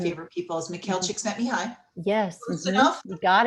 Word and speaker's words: Csikszentmihalyi: that it's based on, and I hope I pronounce his name right because he's one of my Mhm, favorite people, is Mikhail mhm. Csikszentmihalyi.